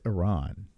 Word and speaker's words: Iran: him Seaman from Iran it's Iran so remember that's how you say it probably the deep deep